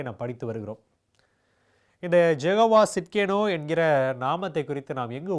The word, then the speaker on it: Tsidkenu: இந்த வார்த்தை இருக்கிறதிலே சற்று கடினமான ஒரு வார்த்தை, ப்ரொனவுன்ஸ் பண்ணுவதற்கு, உச்சரிப்பதற்கு ஒரு கடினமான வார்த்தை. ஜெகோவா சிட்கேனு. இந்த சிட்கேனு என்கிற வார்த்தை ஆங்கிலத்தில் சொல்லணும்னு சொன்னால் TSIDKENU, சிட்கேனு, ஜெகோவா சிட்கேனு என்கிற வார்த்தை.